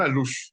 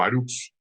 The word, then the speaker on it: alux: Un alush o aruch, como depende también el idioma o el vocablo maya, se trata de un personaje llamado duende o pequeño ser. La pronunciación también depende del sitio o región maya a los cuales estamos platicando.